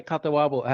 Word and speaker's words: Catawba: So breaking it, when you say Catawba, how do you pronounce it? CATAWBA, like Catawba. CATA, Okay. yeah, CATAWBA.